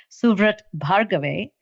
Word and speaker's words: Suvrat Bhargave: very dear friend and his name is officially pronounced suvret bhargave but i think he also is fondly known